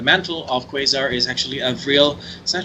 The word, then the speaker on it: Avril: However, the character who is going to be taking the mantle of Quasar is actually Avril. Is that how you pronounce it? Avril? Avril. Avril, like Avril Lavigne.